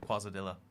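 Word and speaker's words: quesadilla: it I think uh what a way to pronounce quasadilla I'm just pronouncing it the way it's spelled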